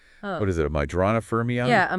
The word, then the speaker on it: Majorana: what is it, a Majorana fermion? Yeah, a Majorana fermion. I'm not even sure I'm pronouncing that right.